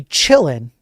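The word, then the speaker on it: Qilin: And by the way, the Chillin, I know it says Q L I N here, but it's it's a Chinese ransomware group. And so the Q is actually you pronounce it as like chi.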